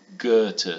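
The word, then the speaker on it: Goethe: German Street in Chicago is a street called good to street that's how you pronounce it you may have seen it it's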